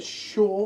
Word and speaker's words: Pschorr: is as I say the hacker hacker hacker sh hacker yeah cuz of course it's a silent P October Fest we're using